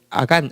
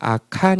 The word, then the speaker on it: 아간: 어 저기 발음을 하는데 그 원래 아간 아간 아시죠 아간 예 원래 발음은 악한 인데요 아 카르 악한